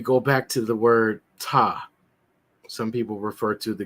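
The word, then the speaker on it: Ptah: back to the word t some people refer to the god t uh spelled PT ah in English pronounced t c a staff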